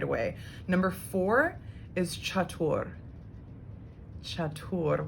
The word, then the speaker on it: chatur: away number four is chatur chatur what does that sound like or i guess like chatter is how some people might pronounce it when it's in terms of the whole word so chaturanga chaturanga so